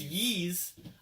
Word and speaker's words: Ys: Yeez. Yeez. Yeah, so Like it's Yeez. Yeezys. Yeah, but without all that. So it's Yeez.